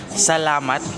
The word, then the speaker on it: salamat: It's a bit cringy, but um so the Filipino word for thank you is salamat and then you flip it around. So matsala and then the last syllable you have to make it into the word love.